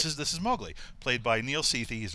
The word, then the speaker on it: Mowgli: It was intended by him to rhyme with cow.